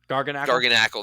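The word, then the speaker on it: Garganacl: was like designed like I don't even know how to say it garganacil gargan Ackle that's it yeah um whoever designed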